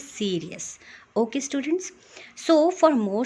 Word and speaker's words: Sirius: Sky, that is SIRIUS, जिसका pronunciation मैंने Cyrus कह दिया था. That is actually not Cyrus, that is सीरियस.